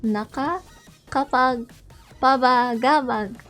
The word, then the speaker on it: Nakakapagpabagabag: Okay, so the way that you pronounce the title of my song is, you can actually split it into 4 parts. NAKAKAPAGPABAGABAG. There you go. NAKAKAPAGPABAGABAG.